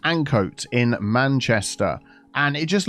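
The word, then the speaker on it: Ancoats: This little complex here is Murray's Mills in, I believe it's pronounced Ancoat in Manchester.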